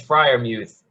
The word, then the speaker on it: Freiermuth: be a mentor for Freer Mouth or Freer Muth, whatever it is, Kyle Pitts, whoever it be. He could be a. What's with the name pronunciation in this? It's been said it's Freiermuth.